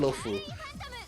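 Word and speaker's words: Luofu: Is it pronounced as Lofang? Spaceship Island. The third chapter of the story in Honkai Star Rail. 尖州老虎. It's called 星洲老虎, right? 尖州老虎. Oh, it's called Lofu.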